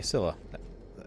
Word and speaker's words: Scylla: Yeah, okay, Scylla.